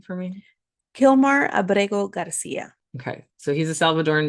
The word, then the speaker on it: Kilmar Abrego Garcia: Kilmar Abrego Garcia.